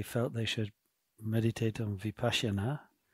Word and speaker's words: Vipassana: So one, just mention, somebody said that they felt they should meditate on Vipassana, as we call it in Mahayana, pronounce it in the Sanskrit way, before meditating on deities in Vajrayana.